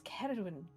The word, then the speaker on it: Ceridwen: Kate, it's Ceridwen. I can't pronounce it with this accent. You know. I'm not asking you to speak with my accent. Just imagine it starts with a K, okay?